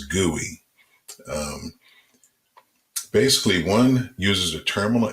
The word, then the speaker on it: GUI: the graphical user interface usually pronounced as gui basically one uses a